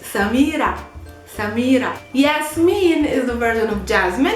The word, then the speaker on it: Yasmin: I wanted the Arabic pronounced also name, Yasmin.